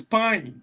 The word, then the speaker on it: Pyne: Just to do a quick correction, it is Pyne, Pyne, Pyne.